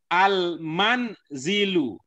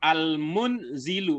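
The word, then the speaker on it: المنزل: sudah benar kembali lagi ini cara membacanya berbeda dengan yang sudah dipelajari sebelumnya nomor 4 ya perhatikan nomor 4 Al Man zilu Alman zilu qobihun Alman zilu qobihun nih ada yang terdengar al-mundziri lu itu maknanya berbeda kalau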